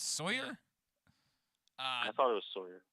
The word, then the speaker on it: Salyer: And then looks like Salyer. It's Sawyer.